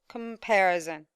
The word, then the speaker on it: comparison: yes competition okay okay now in the word comparison how many syllables are stressed comparison very good i have the second syllable yes very good